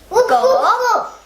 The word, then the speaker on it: 狗: How you say dog is pronounced go, and which is meaning of dog.